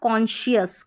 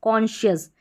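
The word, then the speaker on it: conscious: यहां पर उच्चारण देखें तो इसको पढ़ा कॉन्शियस कॉन्शियस। यहां पर कॉन्शियस नहीं पढ़ेंगे। ठीक है? एस सी को हमने श पढ़ा क्योंकि एस सी के बाद में जो वोवेल पेयर है आई ओ का कॉम्बिनेशन है।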